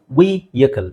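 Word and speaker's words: vehicle: ಕಲಿಲೇ ಬೇಕಾಗುತ್ತೆ okay right ಅದನ್ನ ಹೆಂಗೆ ಹೇಳ್ತೀವಿ ವಿಕಲ್ ವಿಎಕಲ್ ವಿಎಕಲ್ ವಿಎಕಲ್ ಓಕೆ ನೆಕ್ಸ್ಟ್ ಇದ ಎಲ್ಲರೂ ಹೇಳ್ತೀವಿ ವಿಡಿಯೋ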